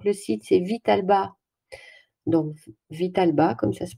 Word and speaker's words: Vitalba: voyez tout donc le site cevital bas donc vital bas comme ça se prononce point fr et donc vous allez voir